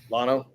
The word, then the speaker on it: Llano: good also Llano yeah Lano is how you say it Llano yeah I know